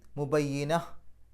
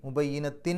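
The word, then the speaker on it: مبينة: ഓതാം രണ്ടിനും ഒരേ പ്രാധാന്യം നിർത്തുകയാണെങ്കിൽ മുബയ്യിനഹ് ആ അവസാനത്തെ താനെ മുബയിനത്ത് എന്നുള്ളതിന്റെ അവസാനത്തെ താനെ സുക്കൂനുള്ള ഹാ ആക്കിയിട്ട് പറയാം മുബയ്യിന നിർത്താതെ പോവുകയാണെങ്കിൽ മുബയ്യിനത്തിൻ എന്ന് പറയണം അപ്പൊ അടുത്ത അക്ഷരം ശ്രദ്ധിക്കണം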